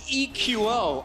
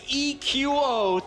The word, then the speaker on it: EQO: That is EQO. I asked him, how do you want your name pronounced? Take this note, Reddit. It is EQO, 3 letters to say his name.